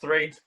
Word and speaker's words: III: So the upcoming EP, do you pronounce it 3 or? Just 3, yeah. 3? Okay. Wanted to make sure I say it right. I wasn't sure if it's 3 or 3rd. Yeah, triple I. Triple I.